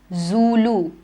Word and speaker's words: Zulu: africa i'll tell you this one it is zulu zulu is a tribe it's the name of